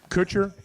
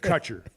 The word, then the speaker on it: Kutcher: coocher 47 is it coocher or coocher ccher Kutcher Kutcher we sure of that yes okay so I would have said cutcher Thank You Edward it's not how Bo pronounced